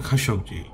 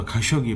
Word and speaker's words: Khashoggi: আসলে দানব না মানুষ জামাল খাসকজি তার নামের উচ্চারণ এটাই অনেকে হয়তো খাসকই বলে কারণ উচ্চারণ করতে পারে না জামাল খাসকজি সেইদিন সৌদি